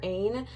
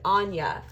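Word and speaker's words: Áine: I call her Ain, but I'm pretty sure it's not pronounced that. I actually have the book, so let me just see how they say it. I do work with her, actually. She's wonderful. Okay, see, they pronounce it so different. They pronounce it Anya. Anya, very different, very similar to someone else's name I know, not at all who I thought.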